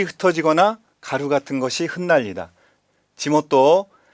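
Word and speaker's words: 地元: 지모토, 자, 이건 발음 조심해야죠. 치모토가 아니라 지모토입니다.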